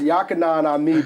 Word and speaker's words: YahkhahnahnAmmi: So it's pronounced YahkhahnahNAmmi, but my birth name is.